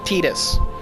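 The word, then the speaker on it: Tidus: I like to say Titus, but the official pronunciation of his name is Tetus from Final Fantasy 10 as well.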